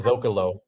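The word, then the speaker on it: Zócalo: And I'm gonna say it the way you and I learned how to say it properly on that same day after years of saying it wrong. Rancho Dell Zokalo.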